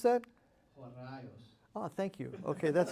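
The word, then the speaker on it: ὡραῖος: So for example, this term, which is hard to pronounce, how do we pronounce that? Horaios. Oh, thank you. Okay, that's helpful. Want to hear it again? Horaios.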